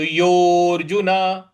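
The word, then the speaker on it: योऽर्जुन: देखिए, य पर ओ की मात्रा है और उसके आगे एस लिखा हुआ है तो इसको दीर्घ खींचना है। तो योर्जुन, योर्जुन इस प्रकार से बोलेंगे।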